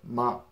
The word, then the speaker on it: 吗: And it actually sounds a lot like the ma in 什么. You don't really enunciate it very much. Just like ma. Just drop your jaws and pronounce it pretty lazily, if that makes sense.